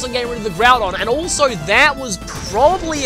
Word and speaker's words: Groudon: I used to pronounce it Groundon. That's why I should focus on getting rid of the Groudon, and also that was probably a Quick Claw, unless...